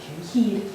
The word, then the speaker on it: keyed: Keyed, yes, so like a car key, and you just add that D on the end, keyed.